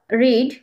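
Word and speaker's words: read: ভারব থ্রির রূপে থাকবে তখন এই আরইডি এটার উচ্চারণ হবে রেড রেড অর্থ পড়েছিল বা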